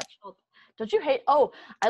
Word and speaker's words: Schulp: Schulp. Don't you hate? Oh, I love like pronouncing words that you've never heard said out loud.